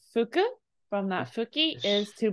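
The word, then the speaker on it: 吹: This guy is hiki. Close. This right here is pronounced as fu.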